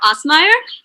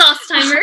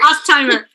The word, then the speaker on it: Ostheimer: And this is my lovely assistant director, Osmeyer. Did I pronounce it? It's Ostheimer. Ostheimer.